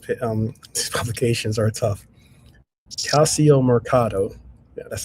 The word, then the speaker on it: Calciomercato: Calciomercato.